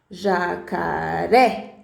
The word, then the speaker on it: jacaré: na antepenúltima sílaba então se for na última sílaba exemplo jacaré aí é uma oxítona se for no meio